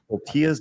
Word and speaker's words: tortilla: Marksman of 117B says, does Arch like his tortillas with queso? Oh. It's pronounced tortilla.